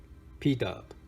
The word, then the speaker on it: PDub: It's actually spelled D and then PUBS, but he pronounced it PDub.